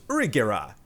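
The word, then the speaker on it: ユリ・ゲラー: is named yongera and in japanese uri geller is pronounced urigera so you can see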